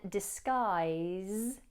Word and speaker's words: disguise: The final S in disguise is voiced, so it sounds like a Z, zzz. So we have disguise, disguise, disguise.